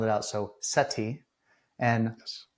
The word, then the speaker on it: Seti: So Seti and Yes, Matua, correct?